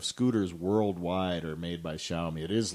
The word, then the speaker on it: Xiaomi: different parts from the xiaomi company which by the way it's pronounced xiaomi that is a chinese word xiao is pronounced xiao the x is like an sy mi is pronounced me so it's xiaomi for